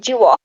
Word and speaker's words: Jehovah: How can you pronounce this name? Jehovah.